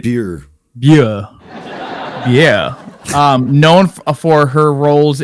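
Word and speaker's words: Bure: How are we saying this? It's French. We said it right. Beer.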